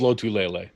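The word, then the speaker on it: Lotulelei: wrong what is it I've always been told low to Leila I think that's how he his family pronounces it okay yeah I tell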